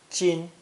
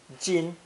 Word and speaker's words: 今: It's pronounced first tone, jin, jin.